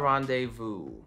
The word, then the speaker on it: rendezvous: Silent Z, how about rendezvous?